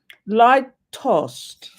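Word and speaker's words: lítost: Litost. Latost. Latost, pronounced litost, is a Czech emotion describing shame or resentment and fury felt when another has made us feel wretched.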